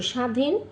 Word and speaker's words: স্বাধীন: বর্ণের উচ্চারণের স্বতন্ত্র আছে শব্দের আদিতে বফলা উচ্চারণ হয় না। যেমন তক তক শশুর শশুর স্বাধীন স্বাধীন শব্দের মধ্যে বা শেষে বফলা যুক্ত হলে সেই ব্যঞ্জনের দ্বিত উচ্চারণ হয় অশ্ব বিশ্বাস পক্ক।